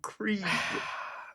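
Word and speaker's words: Kregg: I know it's spelled Craig, but everyone calls him Cre.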